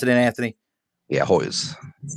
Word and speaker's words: Hoyes: mr anthony hoyles what am i pronouncing is hois how do you pronounce it anthony yeah hoy's hold on he ain't no